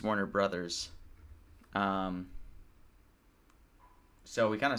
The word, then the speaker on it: Warner Bros.: And we kind of convinced ourselves then that it would go yes because, you know, the way you pronounce Warner Bros is Warner Brothers.